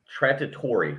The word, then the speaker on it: Trattori: but all right so lamborghini trattori i believe is how you say it's t-r-a-t-t-o-r-i is an italian tractor